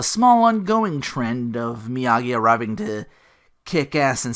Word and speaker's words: Miyagi: I'll go with you Daniel thinks miyaji before being corrected about the hard G Miyagi Daniels but what kind of build do you have miyagi's canvas JCPenney 390.